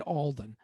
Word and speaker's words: Alden: Yeah, is that how you say it? Alden. Yes.